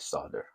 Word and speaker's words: solder: pronunciation or not but everyone I've ever known has always used a silent l in the word solder so that's how I'm